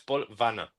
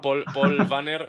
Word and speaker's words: Paul Wanner: O sea, si haces la pronunciación exacta es Paul Vanna. Pero Van, con bueno, decir Paul Banner me parece bien.